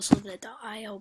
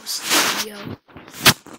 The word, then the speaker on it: Slither.io: People call Slither the IO, but I call Slitheria because that's what it's called.